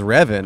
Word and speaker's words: Revin: So it's just Kevin, but you'll slap a little R instead of a K.